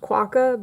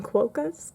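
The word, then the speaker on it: quokka: all the quakkas they're they're technically officially pronounced quacka but i call them quocas because that's how i bought their pants for the longest time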